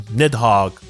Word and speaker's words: Nidhogg: G's channel he reviewed all these weapons as well now the next weapon we're getting is the legendary shotgun nidhogg rhymes with hedgehog because if you look